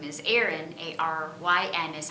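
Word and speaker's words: Aryn: daughter, who's my youngest daughter, her name is Erin, A-R-Y-N is how we spell it.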